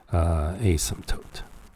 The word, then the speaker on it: asymptote: we mean by vertical asymptote now the word asymptote the P here is silent that means you do not pronounce it okay so it's a